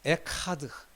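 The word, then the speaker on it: אחד: 여기 이거는 여기 그 가래 끓는 소리를 좀 해야 돼. 에카는 아니고 그 또 하도 아닙니다. 에하드도 안 되고 에카드도 안 되고 히읗과 키읔의 그 중간 발음이라고 할까요? 이 가래가 이렇게 끓는 소리가 나야 돼.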